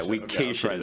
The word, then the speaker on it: KSHSAA: So as I said on the Sports Medicine Advisory Committee for KSHA, the KSHSAA. Is that how you say it faster? Yeah, KSHA is the way we say that.